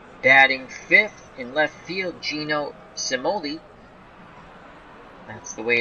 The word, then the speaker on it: Cimoli: Stewart rocky Nelson batting fifth in left-field gino cimoli that's the way it's pronounced I actually say it's Chamoli but in Baseball Reference they're saying Somali again the CI and Italian is sound anyway